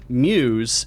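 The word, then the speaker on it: μ's: letter mu yes because his mu apostrophe s is pronounced muse and i need you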